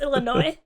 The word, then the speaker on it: Illinois: was because there's one that just happened in Illinois just a few days ago okay whoa there's your East Coast coming out what Illinois Illinois he said Illinois is it Illinois though it's Illinois the that reminds me of a we have